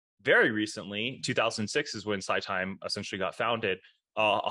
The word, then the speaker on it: SiTime: talk about today is Sci time SCI time I believe is how we pronounce it yeah the ticker there